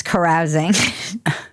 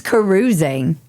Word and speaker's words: carousing: First of all, I didn't know that was how you pronounce carousing. I always thought it was carusing cuz it sounds a little bit like cruising, but apparently Yeah.